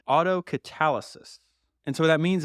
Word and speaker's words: autocatalysis: So, it's pronounced autocatalysis.